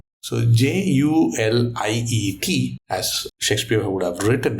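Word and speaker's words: Juliett: So by putting an extra T on it, you know, the French guys will say Juliet in grammar, you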